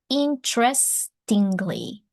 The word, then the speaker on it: interestingly: The first E is not pronounced interestingly.